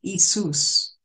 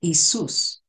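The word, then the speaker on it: Iesous: in Greek uh if we translate it it's pronounced isus and uh if we had to translate that in English it would be i e s o u s but is pronounced isus in English would be yesus and over time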